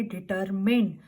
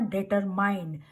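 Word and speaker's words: determined: लिए word use करेंगे डिटरमिन्ड, नॉट डिटरमाइंड. डिटरमिन्ड. MIND की कंबाइंड साउंड जाएगी, डिटरमिन्ड.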